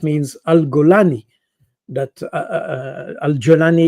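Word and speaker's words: al-Julani: Al gulani that uh Alani is the the the way to pronounce it but if you pronounce it the Egyptian way it's alalani that means he comes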